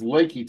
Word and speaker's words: Lakey: Northwest of Lakey Texas it's spelled like leaky Texas but it's Lakey Texas yeah and it's going